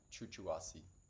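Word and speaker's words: chuchuhuasi: If you've never heard of this one, it's spelled ch u chu hui. Chuchuasi.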